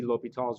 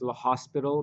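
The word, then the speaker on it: L'Hôpital: gonna be l'hopital's rule so please don't call this l'hospital because that's probably one of my biggest pet peeves it's it's a little bit also lets you know pronounce this mathematicians name correctly so let's start by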